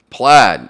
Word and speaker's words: Plaid: Plaid. Now it's spelled P-A-I-D, but I think it's pronounced Plaid.